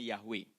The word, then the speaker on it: Yahweh: Jadi disisipin A sama disisipin E. Jadi YHWH dibacanya Yahweh.